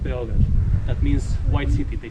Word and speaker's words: Beograd: Belgrade in Serbian is pronounced Beograd.